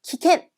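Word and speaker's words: 危険: 3번 키켄 위험이네요. 여러분 참고로 시험을 뭐라고 했냐면 그렇죠. 시켄이라고 했잖아요. 험이란 아이는 음으로 읽을 때 캔이라고 읽어줍니다.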